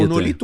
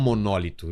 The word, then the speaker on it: monolito: É monolito ou monólito? Já ouvi as duas pronúncias, né? Eu sempre falo em monolito, mas tem gente que fala monólito.